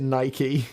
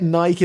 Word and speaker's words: Nike: we get started I know in America you pronounce it Nike we just say it Nike in the UK and we know it's wrong